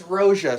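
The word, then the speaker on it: Roja: It's Roa. So, R O J A Roa Parfams.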